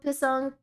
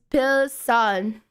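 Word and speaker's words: 필승: It's Pilsan. No, it's Pilsan. Oh, Pilsan Korea.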